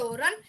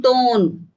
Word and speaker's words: torn: because his shoes were torn. He looked dirty. Tone. His shoes R were is silent. torn. R is silent.